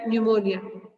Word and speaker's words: pneumonia: November, and she had pneumonia. You must be knowing the meaning of pneumonia. It starts, the spelling starts with the letter P. Pneumonia. P remains silent while we pronounce it.